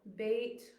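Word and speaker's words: בית: So bait with the ball in its belly sounds like B.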